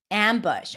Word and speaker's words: ambush: Ambush. Are you pronouncing it with the a sound? And if not, what is it that you're doing? Is it ambush? Is it ambush? Is it something else?